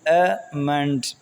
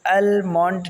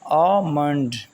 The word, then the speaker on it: almond: ہمارے پاس بادام، ALMOND، امنڈ، امنڈ پڑھا جاتا ہے اس کو المونڈ نہیں پڑھا جاتا friends, L is silent، L is silent۔ ہم کیسے پڑھیں گے؟ آمنڈ۔ آگے ہے ہمارے پاس